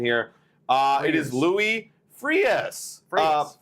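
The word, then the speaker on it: Frías: It is, and let me try to get the pronunciation here. It is Louis Frias. Frias.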